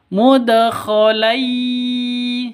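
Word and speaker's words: مدخلا: Jadi tanwin bertemu dengan ya, cara bacanya masuk ke ya, mudkhalai seperti itu, lai gitu ya. Bukan lan tapi lai masuk ke ya.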